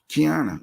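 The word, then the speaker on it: Quiana: Kiana. Say her name again. Kiana, but it's spelled Q-U.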